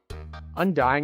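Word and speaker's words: Undyne: Undying is how you say it.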